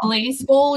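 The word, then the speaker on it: Blaseball: pronounce this next one is it blaze ball or glass it's blazable yeah baseball yeah um final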